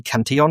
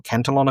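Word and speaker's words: Cantillon: That's generally called the Canion effect or Cantalon effect depending on how you choose to pronounce it.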